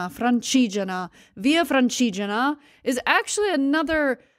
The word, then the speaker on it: Francigena: position on the Via, let me say this right, Fragina, Fragine, I know how to say it. Hold on. I'm not going to say I know all the words perfectly, okay? No, that's the American one. I'm doing Google Translate to say it right. Francigena.